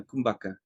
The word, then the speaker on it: kumbhaka: it what was it how's it pronounced subaka uh kumbhaka is the retention the